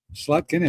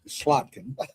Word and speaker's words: Slotkin: Slutkin is close, but Slotkin is correct.